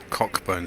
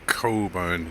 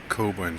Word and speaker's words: Cockburn: is Moore's Bakery right this is not as English to say cockburn street it's cobone Street silence C silent k obuan Street and this used to